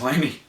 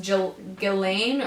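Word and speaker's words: Ghislaine: is Lanie Maxo Gia's Lamey Lamey yeah but I think it's pronounced Jill ghilane or Jen oh yeah um everything is silent except for the GMs so yeah the H and this but but so she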